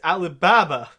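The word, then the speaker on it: Ali Baba: say his name correctly it's Alibaba good none of that Alabama nonsense well did you get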